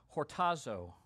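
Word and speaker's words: χορτάζω: does not run out the word satisfied in our text this morning is pronounced hortazo in the Greek and it's frequently used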